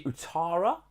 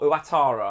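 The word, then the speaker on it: Ouattara: Even, I think it's actually Utara, or Uatara, I think is how you pronounce his name, is the guy that comes on for Kirkes at half-time.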